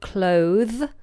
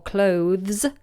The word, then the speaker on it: cloth: It looks very similar to the word clothe or clothes, but it has no E on the end, so we call it cloth, or we pronounce it cloth, just with a short O, cloth.